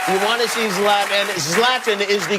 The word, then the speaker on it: Zlatan: Zlatan is the correct pronunciation, yes? Zlatan.